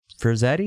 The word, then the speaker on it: Frazetta: it's just like, because the cover's like a Frazetta, is that how do you say Frazetta? Frazetta, yeah.